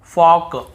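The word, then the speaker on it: folk: के पहले हो देखिए यहां पर भी हम टॉक टॉक वॉक वॉक चौक चौक यक यक फॉक फॉक ऐसे पढ़ कहीं पर भी टॉक वाल्क चालक यल्क फॉल्क नहीं पढ़ रहे लेकिन येय गलत बोल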